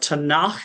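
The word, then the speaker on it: Tanakh: Torah prophets and writings the tanak is how you say it but it is not an actual word tanak is just an acronym sometimes it's called tanak with a k at the end because ketu starts with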